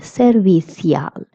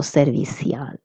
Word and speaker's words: servicial: Let's look at its pronunciation. It is servicial or servicial. Okay, if you're in Spain, you would say servicial with a little stronger th sound. And if you're in Latin America, you will pronounce ci as s, so servicial.